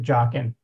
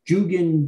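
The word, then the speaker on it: Joughin: I seem to recall that Phil Gowan also pronounced it Jochen. Jochen, yeah. You look, we were saying Jugen, Jogen, Jogen, yeah, just about every pronunciation in the book. But that after we did some research, that's the one we settled on.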